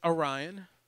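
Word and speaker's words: Aryan: My name is Orion. Okay. And how do you spell that? Ryan with an A at the beginning, A-R-Y-A-N.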